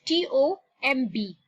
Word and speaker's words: tomb: Okay, now look at this word T-O-M-B. Now the B there is silent when we pronounce it.